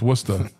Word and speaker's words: Worcester: the and it's, you know, it's it's it's Worcester, but if you look at it on the map, it looks like it's worse, but it's it's Worcester is how we pronounce it.